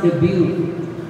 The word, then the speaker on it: debut: debut okay which was commonly which was commonly pronounced as Deo actually it's pronounced debut and debut is a formal introduction of a